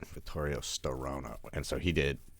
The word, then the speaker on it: Vittorio Storaro: say until I still row no that's right Vittorio Storaro no and so he did he's everything but